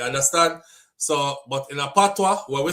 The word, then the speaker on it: patois: Cher says, St. Lucia spells patois and is pronounced patois because in French, the OIS is pronounced wa.